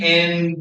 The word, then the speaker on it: aye: you want to say aye. And it's pronounced A-Y-E, but everybody just calls it I because it looks easier.